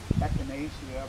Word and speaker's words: echinacea: Generally, there's no classical Latin or classical Greek pronunciation, although when we say echinacea for ECH, the CH in Latin pronunciation would be a hard K.